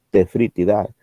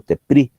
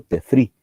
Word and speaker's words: Tephritidae: Tome en cuenta que que mejor dicho, que la PH se pronuncia F. Aquí viene de latín, entonces la PH se pronuncia F. Por eso digo Tephritidae. No digo Tepri, sino que digo Tefri, porque se pronuncia F.